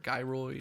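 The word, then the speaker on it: Gyroid: I think that pronoun it's pronounced Geroy door guy Roy a guy Roy yeah there's only been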